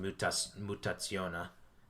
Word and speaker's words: Mutazione: It's spelt Mutazione. Mutazione. But it's pronounced Mutazione.